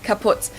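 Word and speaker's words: kaputt: We spell it with two T's in Germany, but we pronounce it the same way. Kaput.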